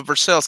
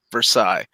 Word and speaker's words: Versailles: But we also have a Versailles, Kentucky, and anywhere else outside of the United States, that is Versailles.